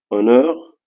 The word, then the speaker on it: honor: euh la lettre H la même chose pour le mot Honor honur on a utilisé an parce que euh toujours le H est mué la même chose aussi